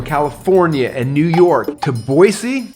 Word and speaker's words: Boise: sense by the way it's now it's boise not boyz which is funny because i would say boise i get in trouble all the time you're even from here you say it wrong boise is so cool